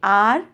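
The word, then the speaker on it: hour: सी टूक एन आर, इसको आप अवर बोलते हो ना, दैट इज रॉन्ग प्रोनाउंसिएशन. इसको हम बोलेंगे आर.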